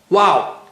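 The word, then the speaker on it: واو: Well, how do you say Waw? You say it with your lips, with round lips. Wow.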